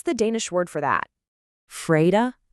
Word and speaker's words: fredag: Fredag, and we say fredag.